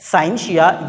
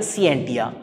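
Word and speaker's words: scientia: उसको कहा जाता है साइंशिया या फिर सिएंटिया। मुख्तलिफ जगह पर मुख्तलिफ प्रोनाउंसिएशन इसकी मौजूद है, साइंशिया या फिर सिएंटिया।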